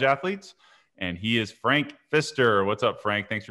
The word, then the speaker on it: Pfister: p though correct yeah p at the front of of fister it's a silent p which uh you know